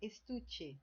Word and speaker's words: estuche: Estuche, estojo, né? Então, ó, estuche. Então, esse tu aqui, ó, é a minha penúltima, né, sílaba. Adorno, ó, a mesma coisa.